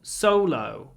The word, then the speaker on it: solo: the O is slightly different because before an L we put our lips forward and say solo Solo solo but logo before a g we don't so in logo it's like o o o logo but solo it's o o o o solo logo solo logo so the O sounds are slightly different in these two words words because of the L in Solo logo solo logo you